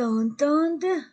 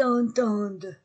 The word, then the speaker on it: entendent: vous entendez e Z ils entendent e nt et je ne prononce pas e nt du verbe il ils entendent donc la conjugaison du